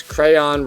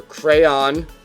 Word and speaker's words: crayon: number 25 is crayon some people pronounce crayon rhyming it with dawn others with men so crayon and crayon according to